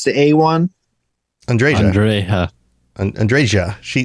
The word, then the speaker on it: Andreja: Andre Andre andreja she they say J they say the J Andre yeah they most people in the game pronounce the J Andrea um it does look like one of those names where the J might be an H sound but most people I